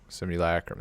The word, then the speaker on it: simulacrum: Dude, Hank just sent me, how do you pronounce that? Soldevi Simulacrum. Simulacrum, that's how it's, okay.